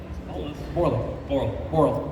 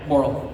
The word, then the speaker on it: Borle: Borle. Yeah. Borle. Yeah. Borle. It's like Burl to Boral. Borle.